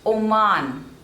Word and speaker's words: Oman: Nigeria Nigeria next is Oman Oman o man and the stress is on the second syllable man Oman Oman next is Panama